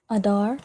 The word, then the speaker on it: Adar: Adar. Pronounced the exact same way. Adar, right? The a and the da and the rajin together to make dar. Adar.